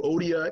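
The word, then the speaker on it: Euodia: You know, in, one of Paul's letters, he says, tell you, Odia and Syntyche, is how you actually pronounce it, to get along.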